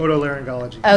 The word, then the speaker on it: otolaryngology: specializing in, I'm sorry, Rod, how do you pronounce it? Otolaryngology.